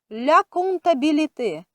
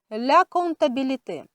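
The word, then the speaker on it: comptabilité: до речі жіночого роду і читається через N а не через M як написано ля кум та біліти ля кум та біліти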